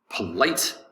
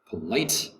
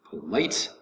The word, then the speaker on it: polite: is polite polite polite polite is two syllables polite the accent is going to be over the second syllable light polite polite the t disappears somewhat into the mouth you don't say polite you can say polite but in american english